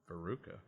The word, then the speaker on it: Veruca: Veruca. Veruca, like the girl in Varric.